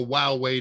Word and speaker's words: Huawei: and this is an extended nib for a while way device yes that's how it's pronounced lots of people don't know how to